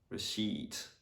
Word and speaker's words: receipt: So for example, in the word receipt, the P is silent.